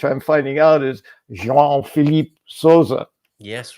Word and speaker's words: Sousa: I did that on purpose because you came to Sousa, which is how I was taught OUSA is pronounced.